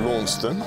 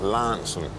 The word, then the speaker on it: Launceston: it my local town is a place called Lon or as I've been told since I've been down here that's got to be pronounced Lanson and part of what the charm about the